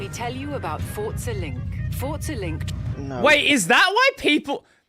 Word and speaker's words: Forza: It's Italian, so Forza is pronounced Forza.